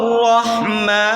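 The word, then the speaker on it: رحيم: আর রহমানির রাহিম এখানে আমরা অনেকেই ভুলটা করে থাকি আর রাহমানির রাহিম এভাবে পড়ে থাকি আর রহমানির রাহিম এরকম ভাবে হবে নাকি কিন্তু শব্দটা শব্দটা আপনি খেয়াল করে পড়তে হবে আর রহমান রাহিম রাহিম না রহিম আর রহমানির রাহিম তারপর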